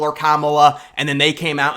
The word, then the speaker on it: Kamala: And this woman calls, says the wrong pronunciation of Kamala. It's Kamala.